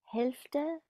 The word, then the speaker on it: Hälfte: Die Hälfte. Is that how you say it? Yeah. The half. You have the. Now the L sometimes can be a bit soft. Even natives sometimes skip it.